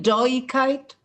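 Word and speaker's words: דאָיִקייט: No, so isn't it doikite? Doikite, yeah. Doikite, yeah. Pronunciation.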